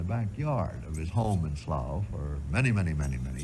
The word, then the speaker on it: Slough: of his life, which was a place called Slough, I think you'd pronounce it, S-L-O-G-H-O-U-G-H in England, this tube, this great telescope tube, lay in the backyard of his home in Slough for many, many, many, many years.